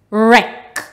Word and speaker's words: wreck: R-E-K, wreck.